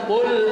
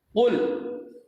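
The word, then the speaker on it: قُلْ: Qaf itu kalau seandainya kita ucapkan qul, ini lain arti nih. Ya, huruf qaf yang harusnya dibacanya jelas, qul, tidak ada sedikit pun qul. Nah, ini salah.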